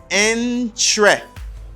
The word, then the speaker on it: interesting: you don't say interesting because there's a syllable that isn't pronounced you don't say interesting you just say you just take a syllable terr okay or you just think of e you say in tre the same when i